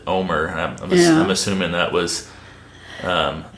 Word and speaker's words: Omar: I've noticed in the cowboy poetry community, everyone pronounces his name Omar, but I've noticed the family and the locals around here pronounce it Omer.